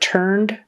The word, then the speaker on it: turned: the word turned turned if you don't have that D on the end it's going to sound like I turn it in today like I am turning it in right now present tense you need that D on the end got to get that D sound I turned it in